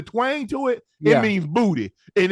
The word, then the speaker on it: Boutte: What is Boutte? Booty. Oh, that's even worse. Booty. Nah, that's the name. That's the name. Booty. You got to say it like with a New Orleans accent. I think that's like I don't know how to pronounce it the right way. Kayshon Boutte. Nah, Boucher. No, there ain't no Boutte. It's not no Boucher. It's Booty.